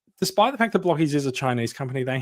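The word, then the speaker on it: Blokees: It is Blockies. Hence we say Blockies all the time." And people are like, "Oh, really? Like, because you spell it like Blokies? It's a bit weird."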